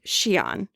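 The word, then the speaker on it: Xian: on newon being from xen or as it's pronounced in Mandarin Shian which apparently was on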